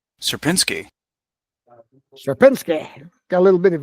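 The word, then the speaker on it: Sierpiński: you can hit and hear the correct pronun pronunciation of his name supinsky supinsky shinsky got a little bit of a flare to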